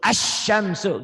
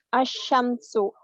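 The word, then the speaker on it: الشمس: Menyambar ke ke shin bener, nyamber dan double ke shin bener, nyamber ke shin, nyamber saya bahasanya mudah aja nyamber Nyamber dan double. Asyamsu gitu. Coba baca. Asyamsu.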